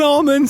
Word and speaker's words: almond: kind of snickers an almond snake oh what a what scooters damn it just almond almond yeah okay almond almond dropped the l the l is silent where i'm coming from where i'm where i'm